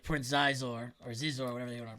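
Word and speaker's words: Xizor: they left it out of the video game where like Prince Zizor or Zizor, whatever they want to pronounce it. Shizor is the Shizor, really?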